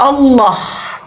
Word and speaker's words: Allah: Kalau cara membacanya sebenarnya harus mengikuti kaidah bahasa Arab, yaitu ditafkim karena L-nya 2. Kalau L-nya 1 Allah. Kalau L-nya 2 ada pantulan, ada tebal dia, karena L-nya 2. Allah.